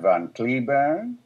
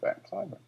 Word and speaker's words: Van Cliburn: So all the time I was there, I never told them that in this country we pronounce it Van Cliburn. So I have two names, Van Cliburn and Van Cliburn.